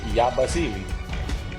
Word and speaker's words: Yabusele: Y'all pronouncing it wrong. Yeah, it's Yabusele. There you go. So that's easy. Yabusele.